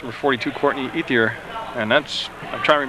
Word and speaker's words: Ethier: pronounce number 42, Courtney Ethier? And that's, I'm trying to remember now if that's what he said. That's Ethier. You pronounce every letter E-T-H-I-E-R.